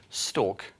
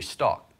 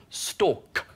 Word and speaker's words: stalk: in Game of Thrones, they always pronounce the end of a word. So if they say a word like stalk, they don't say the Americans will say stock.